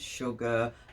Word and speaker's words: sugar: Sugar, you get the SH sound, but it's spelled SU.